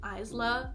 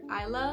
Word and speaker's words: Isla: I think that Alex Astor actually pronounced her name Isla, but I pronounce her Isla.